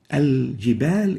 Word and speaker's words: الجبال: Al-jibal is the right way of pronouncing it. It's like this. الجبال. Al-jibal. So we should not say al-jibal. We should not eliminate the lam.